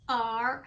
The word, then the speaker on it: right: All you hear is R-I-T, but to make it look right, you have to have I-G-H in the middle. So to spell right, it's R-I-G-H-T, right.